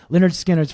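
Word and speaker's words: Lynyrd Skynyrd: Do you know Leonard Skannard's first album was called Pronounced Leonard Skannard, and I thought it'd be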